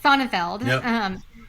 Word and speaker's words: Sonnenfeld: each according to Barry sonnenfield how do you say his name is like Seinfeld sonnenfeld it was the best